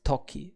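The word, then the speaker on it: 時: daylight saving time now the kun reading is talky and that's rather easy to remember because we can associate it to tick tock tick tock time talkie the country to the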